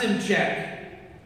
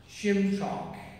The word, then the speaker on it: Simchok: It's not Simchek. It's, what was it again? Simchok.